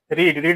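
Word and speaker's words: read: इसका सेकेंड और third form तीनों सेम ही होते हैं, लेकिन इसका प्रोनाउंसिएशन थोड़ा अलग होता है। इसको रेड तीनों दोनों को पढ़ते हैं, लेकिन इसको रीड पढ़ा जाता है।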